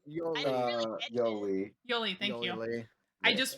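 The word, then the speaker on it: Yolei: __ ] up thing I keep thinking they're saying Jolie but they're saying Yoli how you even spell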